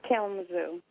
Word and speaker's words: Kalamazoo: How do you pronounce it, Tammy? It's Kalamazoo.